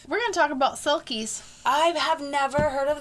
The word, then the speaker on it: selkies: Oh, okay. Selkies. It's not Silkies.